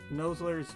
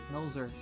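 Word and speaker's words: Nolzur: now we're going to nuzzler how do you pronounce his name noser nosler's marvelously oh noser there's an L there is there an L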